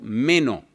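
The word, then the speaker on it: μένω: En griego, permanecer es el verbo meno.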